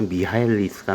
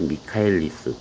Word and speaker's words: Michaelis: 가장 유명한 예를 하나 갖고 왔는데, 여기 이제 독일 사람인데 원어 발음은 아마 미하엘리스가 맞는 것 같은데 이걸 미카엘리스 또는 완전히 미국식으로 해서 마이켈리스 뭐 이렇게 발음하는 사람도 있어.